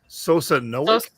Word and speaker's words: Sosnowiec: So anyone Polish in the chat who can give it to us phonetically, please? Sosnowiec.